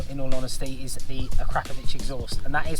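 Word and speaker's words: Akrapovič: two in all in all honesty is the akrapovic exhaust and that is how it's said so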